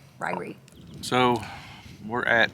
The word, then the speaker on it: Ririe: She said it right too. It is actually called Ririe. Ririe.